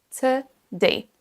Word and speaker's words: today: On ne dit pas today, mais today. Écoutons. Today. Today, today. Et vous voyez la petite apostrophe au milieu, ça veut dire que la syllabe suivante est accentuée. Donc on dira today, today. C'est la deuxième syllabe qu'on va prononcer plus